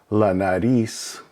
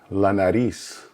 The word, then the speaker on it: la nariz: S sound, and again, the R has kind of a soft D sound. You'll notice also the accent over the I, which means that the emphasis is put on that part or that syllable.